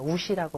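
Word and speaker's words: 无锡: 그 무시 라던가 우석 그 무석 인데 이제 중국어로 는 오시라고 발음을 합니다 근데 기방에 이제 음식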